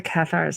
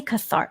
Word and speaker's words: Cathars: okay medieval qasar yeah the cathars I know sorry I always say cathart I always pronounce everything with an Italian have you been to